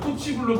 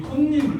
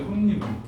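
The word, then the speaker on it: 홑이불: 이건 아까 쓴 것처럼 자, 이불이 만나면 호치불로 발음하는 게 아니라 자, 요 이불이 실질 형태소거든? 뜻이 있는 말. 그래서 이거는 자, 이 혼니불 돼, 혼니불.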